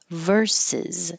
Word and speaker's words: verses: And verses. So for this little phrase, the VS means verses. And I thought we should practice that by itself. Verses with a Z at the end.